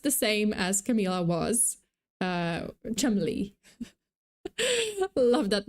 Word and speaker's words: Cholmondeley: David Rocksavage, the 7th Marquess of Cholmondeley. Yeah, that's apparently how it's pronounced.